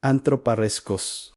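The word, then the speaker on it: ἀνθρωπάρεσκος: La palabra es se pronuncia así, antroparreskos.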